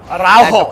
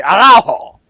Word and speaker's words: Araujo: Araujo, that's how you say it. Okay. Araujo.